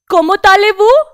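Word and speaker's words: Comment allez-vous: पहले इनकी प्रोनाउंसिएशन देख लेते हैं। Como talez-vous?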